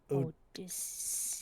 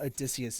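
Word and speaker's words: Odysseus: it's his name it's the correct pronunciation of Odicius. So it's it's not Odysius. Odius. Yes. Like Odius. Odious. Odius.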